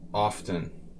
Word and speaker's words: often: I don't pronounce the T, but some people do. Tomato, tomato. Maybe if you're like a Bostonian from Cheers or something. A lot of the old school rich people from Boston sort of pronounce everything very correctly. Like they're still speaking British English in 2020. Often. It's often.